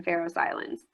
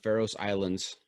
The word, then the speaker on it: Faroe Islands: pharaoh island and then pharaoh's islands but yeah i say pharaohs islands and not not for any particular reason i'm just phonetically saying it okay all right very